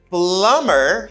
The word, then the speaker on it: plumber: to help me and we got plumber you don't pronounce uh b you don't say plumber the person who works